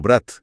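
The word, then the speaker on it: брать: Por ejemplo, brat significa hermano, pero brat con la t blanda significa tomar.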